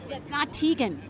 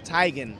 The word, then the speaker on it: Teigen: wife apparently Chrissy Teigen Teagan what so when you walk over to her make sure it's tigon we just said on Instagram he was saying it wrong and our mom said